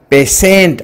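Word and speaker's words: patient: सूत्र जदि टी वर्ण पर आई वर्ण आसे तेबे उच्चारण स हबो। एग्जांपल PATINT एटी टी पर आई अछि तेणु उच्चारण हला पेशेंट अर्थ रोगी।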